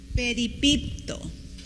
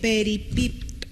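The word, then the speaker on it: περιπίπτω: Peripipto. Con acento en la segunda E. Peripipto.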